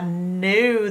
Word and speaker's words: knew: silent letter in it there is a k at the beginning of the word new because I know how you can't hear the it's silent if you said